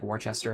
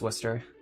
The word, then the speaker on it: Worcester: They would say like Warchester or something. Yeah, it's pronounced Worcester.